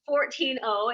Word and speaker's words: Fortino: But it is pronounced 14-0. It is pronounced that way, but it's actually, you know, it's formed with.